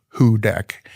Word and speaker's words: Houdek: and our state soil, uh, is hooded soil, pronounced "who deck".